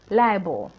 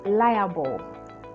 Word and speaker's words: libel: of the wrong one libel libel that is the wrong one the actual pronunciation is liable please we especially we're ghanians we sometimes want to buffalize the words ah we we get it wrong and that thing is liable so just say liable no one will penalize